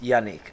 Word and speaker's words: Yanick: There we go, just unique, because he's a unique individual. Yep. And also, a lot of people in our school didn't know how to pronounce Yanick. Okay? Yeah, man. They didn't know, so he just said it's unique.